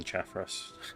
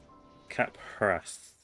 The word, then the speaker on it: Caphras: Yeah, I don't know why I was thinking Chaffras before. I put the H in the wrong place. Caphras. That's how you pronounce it. No, PH is a fa.